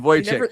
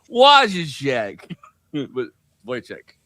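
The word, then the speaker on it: Wojciech: and Voych who uh I like that the the the name of that like uh guy is is spelled uh wo j c i c h or c ch like is what is so so in my head I'm like wo check yeah there you go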